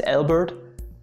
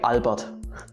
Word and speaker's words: Albert: name wrong or they pronounce his first name as albert but you should say albert speaking of theoretical physics